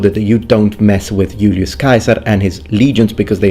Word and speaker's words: Julius Caesar: Julius Caesar, or Julius Caesar as it's pronounced in classical Latin, first is an eyewitness